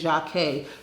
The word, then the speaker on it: Jocque: It's hard for people to say, which is just 2 syllables, and it's not hard for people to say.